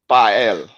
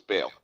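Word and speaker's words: Baal: Okay, this is controversial, but the term bael, bael is always mispronounced as bale.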